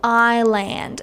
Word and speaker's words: island: differently also of course our favorite silent letters right like why do we have to say Island and not Iceland or eand for example and